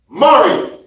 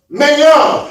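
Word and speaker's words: Maryum: Well, even closer, they said the messenger said Maryam. Go ahead. M-A-R-Y-U-M. This family said it's pronounced Mariam. And they're right. That's their daughter. Another family over here, Bacha, said it's pronounced Mayam.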